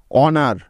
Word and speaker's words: honour: অনার, HONOUR, অনার।